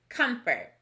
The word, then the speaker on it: comfort: word the word is comfort notice that we don't pronounce the first syllable comes as we would expect there's the sua this time it makes the o sound like a u so which column does